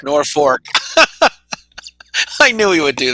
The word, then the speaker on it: North Fork: connect correct our pronunciation it's north fork nor fork i knew he would